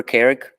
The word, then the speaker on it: Carrick: To remember Carrick, think of people that work for Carrick, characters. That's how you pronounce Carrick.